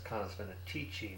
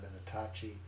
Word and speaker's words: Canis Venatici: This is still in Canis Venatici, and I was pronouncing it wrong. It's Canis Venatici, not Venatacci.